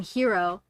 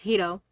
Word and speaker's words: Hiro: Because everyone else calls him Hiro, but his name is Hiro because it's a Japanese name.